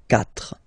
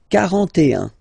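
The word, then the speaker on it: quatre: you start with, well, if you get this combination Q, U, A, well, you will pronounce it K, K. Same thing for the other vowels, okay? So because that's the rule, after Q, normally we put U and then another vowel, but then this U, well, basically it's not pronounced, okay?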